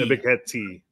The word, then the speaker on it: Ebiketie: Ebiketie.